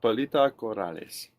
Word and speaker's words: Pilita Corrales: Palita Corales. Palito Corales. Is that a little bit closer? Corales. Yeah. Palita Corales.